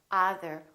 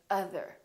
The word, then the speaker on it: other: We don't say other, we say other.